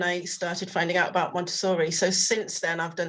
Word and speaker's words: Montessori: So how do you say it? Montessori? Yeah, Montessori. I've always pronounced it wrong.